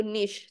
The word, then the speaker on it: niche: Misalnya niche market. Oh dia market yang spesifik. Ada kelompok tertentu. Itu niche ternyata bacanya.